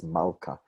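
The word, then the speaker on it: מלכה: the name pronounced as mauka there's a whole history to wive is that personal names often violate that rule that the second syllable gets the stress I could do it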